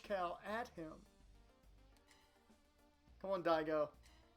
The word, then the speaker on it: Daigo: those are your three options Dixon Brown or die go and I go is spelled dai Geo so who do the people